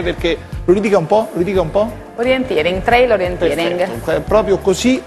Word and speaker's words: Orienteering: Orienteering, bisogna pronunciarlo bene perché lo ridica un po', Orienteering, Trail Orienteering.